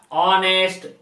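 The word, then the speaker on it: honest: ऑनेस्ट बॉय, यहां noun आ गया तो ऑनेस्ट के पहले आर्टिकल यहां लगाना है, तो ऑनेस्ट का प्रोनाउंसिएशन देखेंगे क्या बोल रहा है? ऑनेस्ट हिंदी का स्वर वर्ण हो रहा है ऑनेस्ट, इसीलिए एन का प्रयोग करेंगे।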